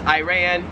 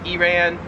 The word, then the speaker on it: Iran: Same thing for the next one, which is Iran, Iran.